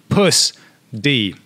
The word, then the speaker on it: pUSD: a synthetic stable coin called pusd or as they say it's pronounced puss d yep yeah yeah try